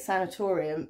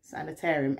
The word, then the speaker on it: sanatorium: and it looks like in england that's how we say it sanatorium but in america you say sanitarium anyway it's obviously the